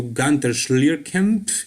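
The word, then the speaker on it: Günter Schlierkamp: Here you can see him posing next to Gunter Schlierkamp. Hey, that is how you pronounce his German name.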